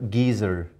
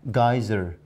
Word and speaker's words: geyser: in british english and we use the word geezer but look look at the americans capsule capsule and geyser geyser when i heard this